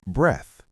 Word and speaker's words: breath: Breathe versus breath. Breathe. Verb has the long e sound. Breathe. Example, breathe in the fresh air. Breath noun has the short vowel breath.